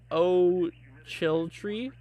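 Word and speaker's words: Ochiltree: in Texas for oh gosh how do you pronounce that oh chill tree oh o-c-h-i-l-t-r-e-e Texas I'm gonna let you guys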